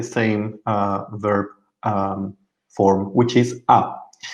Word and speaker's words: ha: We will use the same verb form, which is a. Pay attention to the H because we don't pronounce it. So it sounds like the vowel.